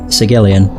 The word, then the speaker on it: Sigilian: on this fine days that would be pronounced sigilian as a frost as opposed to a jillion sigilian what is this place